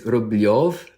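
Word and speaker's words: Рублёв: So it's spelled in America, it's spelled like Rublev, but it's Rublev because there are 2 letters in Russian. There's ye and yo. And in Rublev, so it should be spelled Rubylyov, because that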